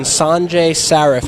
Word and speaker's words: Sanjay Saraf: are here with the CTO of Yap stone Sanjay Seraph am i pronouncing that correct absolutely correct perfect can you